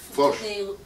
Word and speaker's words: Foch: How do you pronounce it? Foch.